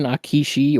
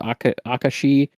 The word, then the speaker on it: Akashi: And this is where we get another historical reference to someone known as the Baron Akishi, or Akashi, is probably more correctly how it's pronounced, who is quite a fascinating historical figure.